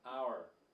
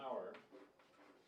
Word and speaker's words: hour: yeah let me show sometimes when H is not pronounced it's like this for example I'll see you in an hour so we add an